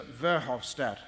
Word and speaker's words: Verhofstadt: Verhofstadt that's how you pronounce it their new head EU negotiator on